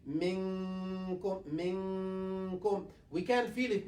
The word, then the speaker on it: منكم: We say mikkum, or will not pronounce it 100% minkum. We'll say minkum.